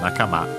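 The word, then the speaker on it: 仲間: By the way, Nakama, accent on the last syllable.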